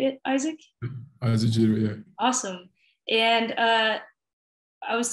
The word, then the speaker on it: Isaac Jeter: And with me today is Isaac Jeter. Is that how you say it, Isaac? Isaac Jeter, yeah.